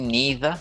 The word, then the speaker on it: neither: of weird ones but again with neither it could be neither some people say that leisure but it could be leisure depending on where you are in the world so there are differences